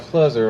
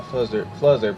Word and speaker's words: Fluzzer: So, this is the one where you write Fluzzer all over the place. I keep thinking it says, but not. Like, I don't think it says buzzard. It rhymes with buzzard.